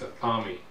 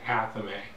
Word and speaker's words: athame: Although some people may pronounce it as a thami, I pronounce it athame.